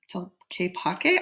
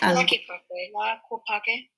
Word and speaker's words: Tlaquepaque: Tlaquepaque? I'm going to look it up because I don't know how to pronounce that either. Thank you, though. Tlaquepaque.